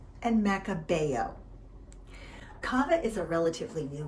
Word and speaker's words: Macabeo: Pronounced Xarel-lo, Parellada, and Macabeo.